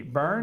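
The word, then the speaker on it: Byrne: uh Byron, Byron, what's how do you pronounce his name there, Ralph? How do you spell it? B Y R N E Burn. Burn is it? Burn, right? Yeah.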